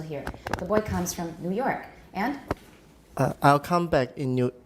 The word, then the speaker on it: New York: is not a compound but new york liang do you york has the tonic stress so your examples uh the boy came from new york the boy came from